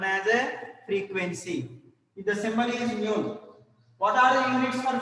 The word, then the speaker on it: nu: Frequency symbol nu, like not V, nu. We have to pronounce it in the form of nu.